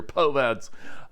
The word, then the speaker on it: POVADs: Nous lui avons ajouté un élément qui s’appelle les « POVADs ». Je le prononce ainsi : « POVADs ».